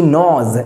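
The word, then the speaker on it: gnaws: পর ঘন্টা ধরে হি নোজ এখানে এই যে ওয়ার্ডটি দেয়া রয়েছে জি এন এ ডব্লিউ এস এর উচ্চারণ কিন্তু নোজ এখানে জি এর উচ্চারণটা আসবে না এখানে সাইলেন্ট জিটা তাহলে উনি কি বলছেন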